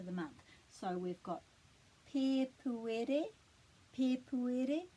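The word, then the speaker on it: Pēpuere: Pepuere, and the emphasis would be on the pe, the first syllable, because it's got a macron. Pepuere.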